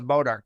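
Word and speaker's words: Bois d'Arc: all right kind like bodar it's get it spelled weird but pronounced different yeah so before we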